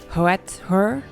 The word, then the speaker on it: Hathor: The ancient Egyptian name could be pronounced Hoetur.